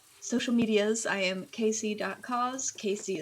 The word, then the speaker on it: Kaesea: Casey is spelled Kaesea, K and then C like the ocean.